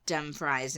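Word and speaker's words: Dumfries: I might have said Dum fries and Galloway Dum fries and Gallow way yeah W aw oh that's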